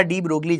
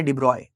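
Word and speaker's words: de Broglie: इन्हें लिखा डी ब्रोगली जाता है, इनकी प्रोनाउंसिएशन है डिब्रॉय।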